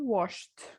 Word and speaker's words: washed: So whenever we have a verb ending in these sounds, in p, f, s, sh, k, ch, then the ed will be pronounced as t.